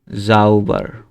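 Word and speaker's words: sauber: তারপরে হচ্ছে যে জাউবার, এটার উচ্চারণ জ কেন হয়েছে? কারণ এস এর সাথে যদি এ ই আই ও ইউ থাকে বা ভাওয়েল থাকে, সেটা জয়ের মতো উচ্চারণ হয়।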